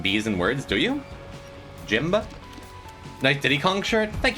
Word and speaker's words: Jimb: As an Eastern European, I pronounce the silent B's in words. Do you? Jimba?